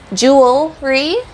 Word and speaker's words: jewelry: way we say it and so you want to say jewelry because you have the word Jewel and then Roi at the